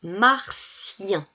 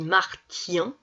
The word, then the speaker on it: martien: dit potion mots suivants alors ça se prononce martien pareil si je dis marthien oumar tian ça marche pas martien un martien c'est